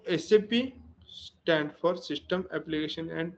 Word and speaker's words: SAP: Correct pronunciation is एसएपी नॉट फॉर सैप okay एसएपी तो जैसे कि system application and product in data processing मतलब हम क्या करते हैं यहां पे?